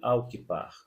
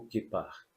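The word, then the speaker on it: kippah: Então, quando você visita Israel, então você vai descobrir o que nós chamamos de al-kippar, ou kippar, que seria a pronúncia melhor, que é colocado sobre a cabeça dos homens para a oração, também compondo os seus objetos de oração.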